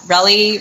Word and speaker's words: Relly: And Relly rhymes with jelly.